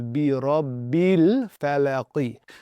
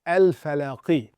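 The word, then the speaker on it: بِرَبِّ الْفَلَقِ: when we reading this, we read this as bi rabbil falaqi. So, we're basically eliminating this. So, that tadpole basically takes that alif and swims away with it. So, in terms of how we pronounce it, we're not pronouncing it. If it was by itself, right? So, if this word was just by itself as such, then essentially you would say al falaqi. But, because we're connecting it, it would be bi rabbil falaqi.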